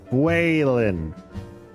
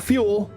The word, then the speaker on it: Phelan: It's pronounced Phelan. Phelan. Not fuel, not fuelin. fuelan, like fuego, like fire in Spanish.